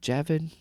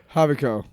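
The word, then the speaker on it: Javicco: Javid Javid the emperor havo havo what oh there's a Jay God I'm so white uh so he I and they say his name and I always see that J I'm like javu havo hey Jeffy let's go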